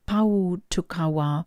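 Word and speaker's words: Pōhutukawa: for you okay so this card is pronounced power to Kawa and it translates into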